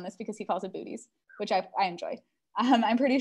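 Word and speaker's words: Boötes: I'm going to call John out on this because he calls it booties, which I enjoy. I'm pretty sure we have a specific pronunciation guide somewhere in the Observer's Handbook.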